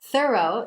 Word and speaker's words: thorough: Entonces, aquí estas letras se pronuncian con una O, con la G y la H son mudas.